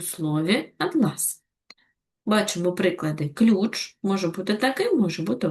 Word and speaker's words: атлас: Наголос у цьому слові допомагає розрізнити його значення, як у слові атлас. Бачимо приклади. Ключ може бути таким, може бути ось таким. Атлас. А це атлас. Атлас. Так, наголос падає на перший склад.